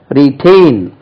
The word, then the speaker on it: retain: இப்போ எலெக்ஷன்ல எல்லாம் the particular party has retained the seat, எலெக்ஷன்ல அதே சீட் தக்க வைத்துக் கொள்கிறார்கள், retain. stress lies on the second syllable, retain, T-A-I-N, retain.